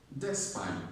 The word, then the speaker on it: Despite: Number 9, not despite. Despite. The stress is on spite.